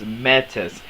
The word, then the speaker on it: Metis: metis or last time it's metis it's pronounced meh so meh and tess so sorry rick i